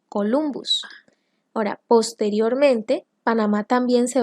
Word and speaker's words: Columbus: referencia a cristóbal colón cuyo apellido el latín se pronuncia columbus ahora posteriormente panamá también